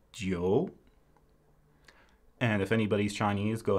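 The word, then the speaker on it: 酒: My understanding is J-I-U. There's actually a hidden vowel in there. There's an O in there, so you have to say jiu.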